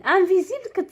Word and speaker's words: invisible: سوليي تري بيان انفيزيبل انفيزيبل كتكتب اس وكتنطق زد انفيزيبل كما كتشوفوا اس